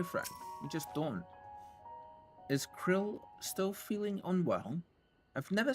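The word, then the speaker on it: Krile: I feel so strange calling her Krill even though that's how we've heard multiple times now that's how they pronounce her name the entire play through so far I always thought her name was pronounced Kryle the full report what's in the Oh.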